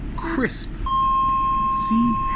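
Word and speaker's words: Chrisp: the street market but why is it with a h crisp c-h-r-i-s-p but you say crispy so for the crisp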